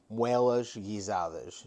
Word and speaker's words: Moelas Portuguesas: Okay, Moelas Portuguesas is how you say it in Portuguese.